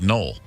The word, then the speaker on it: Noel: was null n o e l but they pronounced at null and so one year the nolles went away